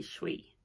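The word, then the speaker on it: Shwe: good with pronunciations but it's spelt s h w e s h w e and it's pronounced shui shui so yeah i just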